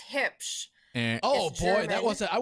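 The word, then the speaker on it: Huebsch: It's like your hips, you know, like where your belt goes. And then shh, be quiet. Hips.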